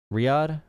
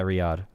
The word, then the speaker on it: Riyadh: Riyadh? Yeah, Riyadh.